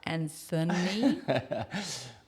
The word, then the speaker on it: Anthony: Smith I know because you have a silent h in your name and it should be said Anthony well you know it